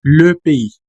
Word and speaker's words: le pays: No, si pronuncias como pie, recuerda que estás comiendo pues el pancito, ¿no? Pie. Así que mucho ojo, es le pays.